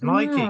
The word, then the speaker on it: Mikey: I get confused so when they announce it at awards it's normally Mikey right okay good good has anyone has anyone heard her pronounce it herself that's a good point actually I don't think I have no I think she says Mikey because at the SAG